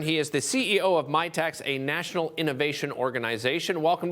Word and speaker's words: Mitacs: so first of all I have to correct a misinterpretation that my tax is spelled m-i-t-a-c-s right not an accountant